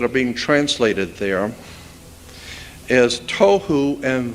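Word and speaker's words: תהו: The two Hebrew words that are being translated there is tohu and vohu. Pronunciation, it would be T-O-E-W-H-O, tohu. That's not the way it's spelled in Hebrew, but that's the way it's pronounced.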